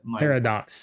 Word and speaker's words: Parradax: So, but and by the way, just so you know, the first name is pronounced, and then the last name is Para. So Parradax is how that was my Parradax.